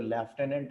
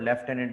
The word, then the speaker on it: lieutenant: है, तो वो जो लेफ्टिनेंट है वो ये वाला है. इसका साउंड अलग है. ठीक है, स्पेलिंग चेक कर लें. इसे लिeutenant भी पढ़ा जाता है और लेफ्टिनेंट भी पढ़ा जाता है.